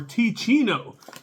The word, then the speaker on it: Teeccino: let's get on with this coffee review for T Chino and let me show you this so you can know how to spell it t e e c i n t